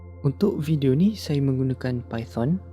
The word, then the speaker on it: Python: this video, I use Python Or our people pronounce it as "Paiten" I wrote this code